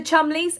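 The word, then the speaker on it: Cholmondeley: about Prince William was now as for the chumy again I will say yes that is how you pronounce it they are still very good friends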